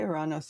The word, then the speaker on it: Ouranos: Ouranos. Yeah, I say Artefacts of Ouranos.